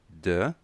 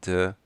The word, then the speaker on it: the: Tem duas pronúncias. Pode ser the ou de. Falamos de com som de i quando a palavra na frente iniciar com uma vogal. Então, neste caso aqui, não diga the alphabet, diga the alphabet.